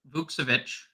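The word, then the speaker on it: Vukčević: he at 3K yeah so Tristan bovich is the pronunciation yeah um like he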